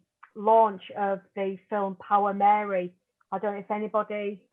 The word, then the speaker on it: Meri: It's Power Mary, but it's spelled MERI, and it's an amazing